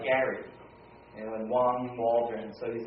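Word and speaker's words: 王: It's pronounced, this first one is Wang, and it's a common surname in Chinese, and it happens to mean king.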